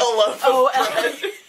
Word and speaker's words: Olaf: Like, when I read Series of Unfortunate Events, I pronounced Count Olaf Count Olof. Even though he's like Olaf.